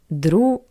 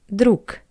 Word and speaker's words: друг: And the reason is that the voiced consonant G at the end of the word is read as a pair to it voiceless consonant K. G changed to K. Друг.